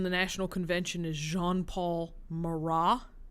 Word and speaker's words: Marat: Another leader in the National Convention is Jean-Paul Marat. It's, again, a French word, so that last T is silent.